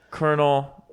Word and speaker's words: colonel: so i was like that kernel spelled like k-e-r-n-e-l but this kernel spelt c-o-l-o-n-e-l like that doesn't make any sense and it doesn't sound